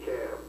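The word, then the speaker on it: Chaim: Dr. Weitzman's first name was C-H-A-I-M. And I didn't know how to pronounce it, so I called him Cham.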